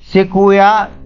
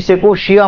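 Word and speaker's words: Sequoia: तर ही आहे बघा शेकोया जायजिया मी तुम्हाला काल दोन तीन वेळेस पण हा शब्द वापरला होता पण मी शेकोशिया म्हटलं ऍक्च्युली याची स्पेलिंग अशी आहे शेकोया जायजिया किंवा जायजांशिया जायंट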